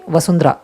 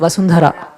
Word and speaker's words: Vasundhara: especially Tam we have there's a h that comes like even with my name they say vasundra it's vasundhara a lot of North Indians